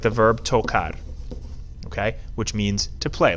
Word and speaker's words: tocar: Now, the infinitive, this verb is pronounced tocar. We have a hard C because before that A, the C is going to be a K sound.